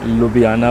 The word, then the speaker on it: Ljubljana: মুহূর্তে আছি হচ্ছে স্লোভেনের রাজধানী লুবলিয়ানা আমরা হয়তো লুবলিয়ানা বলবো ইংলিশ উচ্চারণে অনেক সময় লুবিয়ানা বলে সো এই লুবিয়ানাতে আমি আছি আমি কেন